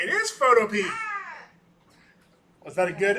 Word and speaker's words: Photopea: has confirmed it's pronounced Photopea, not Photopia. Which would have made more sense. But he's like, nah, I've been calling it Photopea, like the vegetable.